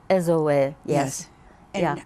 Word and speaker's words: Ezoe: Ezoe, yes. And Yeah. how do you pronounce that in Japan? The same way? Yes, we pronounce all the vowels separately, so it's really zo, you know.